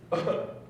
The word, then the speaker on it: Sloan: Sloan. Sloan? Sloan. Sloan. That's spelled S-L-O-A-N.